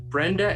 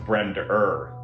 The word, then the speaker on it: Brenda: According to Scenes from an Italian Restaurant, Brenda and Eddie were still going steady when? I think you mispronounced that. It's pronounced Brender and Eddie. Brenda and Eddie? You got to really hit that ER.